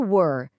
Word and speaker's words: were: A palavra were, que é o verbo, tem um som mais fechado.